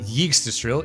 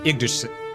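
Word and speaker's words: Yggdrasil: They pronounce the Y in Idrasil like the Y in yes. Yikes. It's not It's not yestril. It's ignoril.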